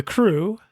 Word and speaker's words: CROO: So the crew, CROO, for whatever reason it's spelled that way, the crew, as the